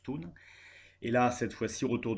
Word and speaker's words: Thun: Je prononçais Tain, mais ça se prononce Thun.